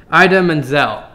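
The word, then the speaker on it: Idina Menzel: going to say it hopefully right this time Ida Manzel he said it like this please welcome the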